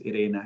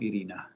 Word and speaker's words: Iryna: underline that your name is irena and not irina because because we have similar names in russian language irina and in ukrainian language irena and and it is